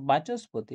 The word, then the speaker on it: বাচস্পতি: এখানে বাচস্পতি, এখানে দেখো এই বিসর্গটা দন্ত সর মতন উচ্চারণ হচ্ছে সন্ধির ক্ষেত্রে, হ্যাঁ?